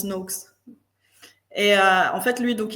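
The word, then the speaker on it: Noakes: connais le nutrition network non non tu connais le professeur Tim no ça me dit quelque chose de NO NO mais en fait ça se prononce NOx et en fait lui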